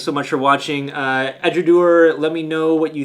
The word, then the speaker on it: Edradour: know what you think i'm finally pronouncing it right i think i said edudower before and got called out uh eduard i think is the way you pronounce it let me know if